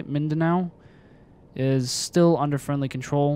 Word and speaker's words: Mindanao: near davao and mindanao is how you say mindanao is still under friendly control we still have